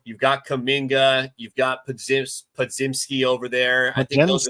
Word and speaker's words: Podziemski: It's pronounced Podziemski, obviously, oddly enough.